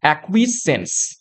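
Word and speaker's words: acquiescence: তে উচ্চারণটা কিভাবে দেখো এক ঠিক আছে তারপর হবে কুইজ তারপর হবে সেন্স এটা হবে একচুয়াল উচ্চারণ একুইজ সেন্স যার অর্থ কি সিকার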